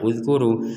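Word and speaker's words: اذكروا: Nah, ini berasal dari kata zakaro yazkuru. Karo yazkuru bahasa Arabnya itu bakaro yazkuru. Kemudian fi'il amr ya kata perintahnya itu uzkur. Nah, maka ini dibaca uzkur.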